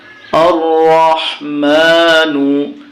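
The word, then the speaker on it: الرحمن: মা নুন পেশ নু আর রহমানু কিন্তু যখন আমরা এখানে থেমে যাব গোল চিহ্নর জায়গায় তখন নুনটা সাকিন হয়ে যাবে আর রহমান এরকম উচ্চারণ হবে আর রহমান পরের আইনে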